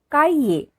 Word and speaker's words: cahier: Next object, c'est un cahier. C'est un cahier. H is silent here.